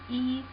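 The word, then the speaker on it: 一: E pronunciation is E, and it means 1, the number 1.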